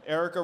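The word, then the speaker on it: Aarika: should back his opponent Erica rhods uh you can look it up it's Erica for congress it's spelled a a r i Ka so there there are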